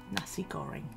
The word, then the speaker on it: nasi goreng: our mommy does so yeah nasi goreng that's how you pronounce it yeah there's a